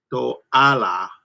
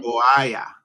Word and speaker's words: toalla: Toala. All right. But remember, two L's make a. Oh, to. Well, let's say two L's make a Y sound, right? Mm-hmm. Toalla.